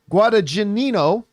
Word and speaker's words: Guadagnino: with his queer director Luca Guad I always mispronounce this. Guadagnino. Guadagnino. Guadagnino.